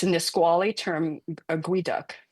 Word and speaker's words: geoduck: It's a Nisqually term, a guiduc. Even though it's spelled Geoduck, it's pronounced like Gweeduc, guiduc.